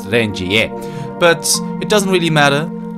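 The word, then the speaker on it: Renjie: As I actually looked up, he is supposed to be pronounced Rengier, but it doesn't really matter.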